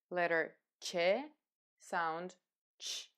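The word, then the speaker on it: ч: This is letter Ch, similar to the sound at the beginning of the word chair in English. Letter Ch, sound Ch.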